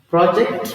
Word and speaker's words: project: I have WR here project when you say project the S is on the first C project it's a n and project is a